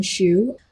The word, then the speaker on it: Xu: And you know, my last name is pronounced shoe.